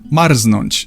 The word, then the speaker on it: marznąć: There are some very rare cases of R and Z not forming Rz, but you'll probably never encounter them and I can only think of one example, Marznąć.